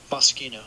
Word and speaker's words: Moschino: Moschino.